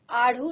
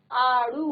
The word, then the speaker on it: आड़ू: ठीक है, इसी तरह से आढ़ू, आढ़ू, आढ़ू नहीं होता, आड़ू होता है, आड़ू नहीं होता, आड़ू होता है।